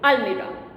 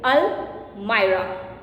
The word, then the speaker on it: almirah: The popular pronunciation of this word is almirah. But students, 99% people pronounce this word wrong. Whether you take Cambridge Dictionary or Oxford Dictionary, almirah is not the right diction. The right diction is almirah.